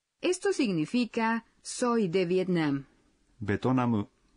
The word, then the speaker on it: ベトナム: Betonamu es la pronunciación japonesa de Vietnam.